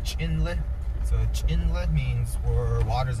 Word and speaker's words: Chinle: my clan so chinle is a navajo word pronounced chinle so inlet means or waters eggs where water